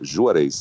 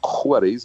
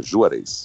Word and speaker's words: Juarez: com Z no final, e a pronúncia sim, a pronúncia é Juarez. Algumas pessoas me chamam de Juarez, mas é com som de João, é Juarez.